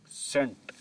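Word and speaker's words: scent: सेंट। अब यह word सेंट पढ़ा जाएगा। यहां पे भी सी की आवाज को हम साइलेंट रखेंगे।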